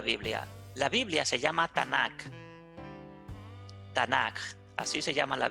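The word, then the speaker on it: Tanakh: se pueda entender pero realmente la palabra tan sólo lleva a una t una n y una k así se lee y así se pronuncia tanak entonces es ate y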